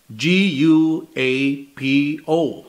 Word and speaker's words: guapo: Now, we still pronounce it exactly the same way, guapo.